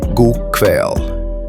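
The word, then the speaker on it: god kveld: God kväll, good evening, pronounced god kväll.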